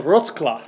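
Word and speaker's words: Wrocław: the the real name is of course the rot claw rot claw that's very good that's better than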